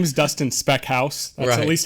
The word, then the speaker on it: Speckhals: My name is Dustin Speckhals. That's at least how I've always been told to pronounce it by my grandparents.